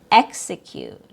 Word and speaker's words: execute: E X and it's a stressed syllable like in the word execute. Execute. E X has a short E sound.